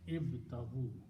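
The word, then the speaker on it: ابتغوا: So this word is ibtaghu. And we always put an alif, which is not pronounced, with a small circle at the end.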